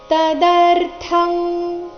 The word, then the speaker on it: ತದರ್ಥಂ: ಬಂಧನಹ ಲೋಕೋಯಂ ಕರ್ಮ ಬಂಧನಹ ತದರ್ಥಂ ಇಲ್ಲಿ ಥ ತದರ್ಥ ನಲ್ಲಿಯ ಥ ಮಹಾಪ್ರಾಣ ರಸ್ವ ಬರಬೇಕು ತದರ್ಥಂ ಕರ್ಮ ಕೌಂತೆಯ ಮುಕ್ತ ಸಂಘ